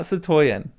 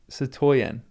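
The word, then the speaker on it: citoyen: It's not Satoyen. It's Satoyen. It doesn't do me any good. Stress on the last syllable.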